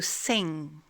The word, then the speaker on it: sing: De même, on ne prononce pas le son ge dans to sing. To sing. Vous voyez, au moment où vous allez prononcer le son G, vous vous arrêtez.